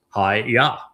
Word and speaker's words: Yahweh: And haya tells us how to pronounce the y the yod and the two hays in Yahweh's name. It's hi yah.